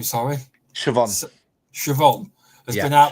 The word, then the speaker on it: Siobhan: Sorry, Siobhan.